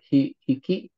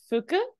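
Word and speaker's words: 吹: This guy is hiki. Close. This right here is pronounced as fu.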